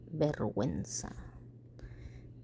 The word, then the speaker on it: vergüenza: Pingüino, bilingüe, cigüeña, vergüenza. And they all have two little dots on top of the U because you are allowed to pronounce the U even though it's next to the G.